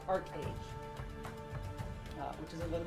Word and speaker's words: ArcheAge: auroria and nuia and the game itself is pronounced Arc age uh which is a little bit different from